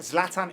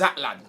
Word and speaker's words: Zlatan: the way Mark says Zlatan this season. Yeah. Zlatan, bro. Okay, cool. So it's Zlatan to Mark. Yeah. That's his to name. us, It's like Matalan with a Z to you.